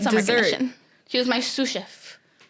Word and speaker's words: sous chef: is it sous chef sous chef like two different words guys chef i'm gonna stop like you're gonna sue somebody and a chef sue steve i'm saying